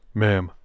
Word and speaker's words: ma'am: first time and afterwards ma'am to rhyme with Spam she repeated it perfectly